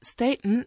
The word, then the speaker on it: staten: Aussprache mit langem awgen die Mehrzahl hingegen staten hat nur ein einziges a da die offene Tonsilbe ST bereits für die lange aus Sprache sorgt daher heißt es staten